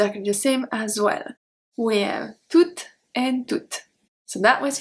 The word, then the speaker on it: toutes: And then we have toutes, T-O-U-T-E-S, feminine plural. So the masculine are pronounced exactly the same.